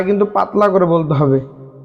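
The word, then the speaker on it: ح: আলিফ আলিফ আলিফ বা তা তা ছা কিন্তু পাতলা করে বলতে হবে ছা জিম জিম জিম হা এ হা এর উচ্চারণ হলকের মধ্যখান থেকে হবে হলকের মধ্যখান অর্থাৎ গলার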